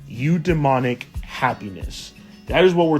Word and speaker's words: eudaimonic: So, today we're going to look at another form of happiness called udemonic. Eu demonic. I'm hoping I'm pronouncing that right.